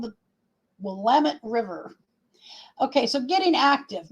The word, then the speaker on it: Willamette: It is not pronounced the Willamette, as many people think. It's called the Willamette River.